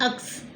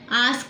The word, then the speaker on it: ask: Reema mocked her एट मर्सिलेसली because she said अक्स. आस्क बोलना था, उसके बदले उसने अक्स बोला.